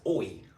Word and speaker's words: oil: So then you have the oi massage, aka oyo, but here in Thailand you'll hear them pronounce it as oi, like without the L, oi.